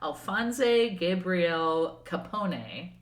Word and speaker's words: Alphonse Gabriele Capone: Okay, so January 17th, 1899, Alphonse Gabriele Capone, that's how you say it in Italian, was born in Brooklyn, a borough of New York City.